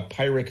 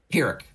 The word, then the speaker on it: pyrrhic: to give you a pirate very uh a pirate victory pyrrhic it's a pyrrhic victory i know it's a